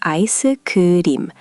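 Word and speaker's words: 아이스크림: Koreans add a vowel sound after certain consonants because Korean syllables prefer to end with simple sounds. It's ah-ee-suh-kuh-dim rather than ice cream.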